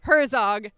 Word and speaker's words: Herzog: longer than that and I've been pronouncing your name wrong the whole time so there you go folks pronounce it Herzog and it's Brian and